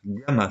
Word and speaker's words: gamma: sont pas à l'aise ça se prononce gamma ça c'est une lettre grecque prononce se prononcer GAM